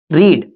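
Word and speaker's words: read: इसकी second form भी spelling same होती है, लेकिन इसको पढ़ते रेड, रीड रेड, और थर्ड फॉर्म भी रेड। इसका प्रोनाउंसिएशन हमको रेड करना है।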